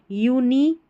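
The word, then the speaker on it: unique: ये जो है ना क्यू यू ई स्पेलिंग के आखिर में आएगा। इसको क कर करके पढ़ना है। जैसे यूनिक क्यू यू ई है ना टेक्ननी क एंटी क बटी क ऐसे क्यू यू ई आखिर में आ जाएगा किसी भी स्पेलिंग में। इसको आप क पढ़ देना है।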